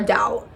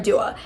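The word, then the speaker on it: Dao: And she has referred to Clara as Clara Dow instead of Clara Dua.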